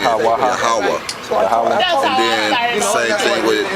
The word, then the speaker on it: Yahweh: So it's Yah-ha-wah-ha, which the H is silent at the end. Yahweh.